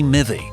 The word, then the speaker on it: mivvy: The word is believed to be short for strawberry mivvy, a traditional British dessert, and mivvy rhymes with civvy, meaning a civilian, or someone who isn't or shouldn't be inside the business.